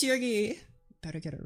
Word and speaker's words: Shirgi: And I am Sheri. That's how you say my name. It's Sheri.